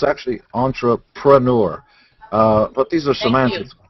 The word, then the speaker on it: entrepreneur: Nobody can spell it or pronounce it. It's actually entrepreneur. Everybody says entrepreneur. Yeah, but it's actually entrepreneur.